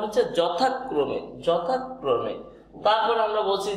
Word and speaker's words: যথাক্রমে: আর এই ম, তাহলে যথা যথাক্রমে, যথাক্রমে উচ্চারণটা হচ্ছে যথাক্রমে, যথাক্রমে।